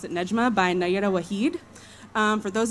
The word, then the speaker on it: Nejma: This is a work called, I pronounce it Nejma, by Nayera Waheed.